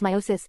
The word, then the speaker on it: meiosis: analogy or life sense meiosis pronounced meiosis is a process of reduction division in which